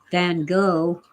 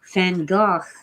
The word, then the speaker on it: Van Gogh: Van Gogh, or as most Americans say, Van Gogh, it's Van Gogh.